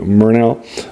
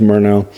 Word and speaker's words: Murnau: Murnau, and that's M-U-R like murder, so I think it's pronounced Murnau.